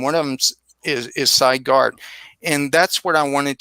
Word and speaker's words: Garte: Garte. Did I pronounce that your name right?